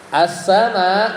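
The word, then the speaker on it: السماء: kalau dari sisi bacaan jadi bacanya assama makanya itu mad wajib ya jadi harus panjang ya 5 sampai en kemudian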